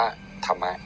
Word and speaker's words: ธรรมะ: ง่าย เป็น ภาษา ไทย ถ้า ภาษา บาลี ก็ ธม ถ้า ภาษา ไทย ก็ ธม สระ อะ อ่าน ว่า ธรรมะ ธรรมะ คือ การ ฝึก